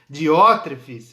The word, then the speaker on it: Diótrefes: nós falamos no começo, que é bem difícil, Diótrefes, um nome até esquisito aqui para a nossa cultura, mas é assim que pronuncia ele.